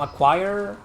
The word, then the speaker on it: Acquire: I pronounced it correctly. You know, acquire.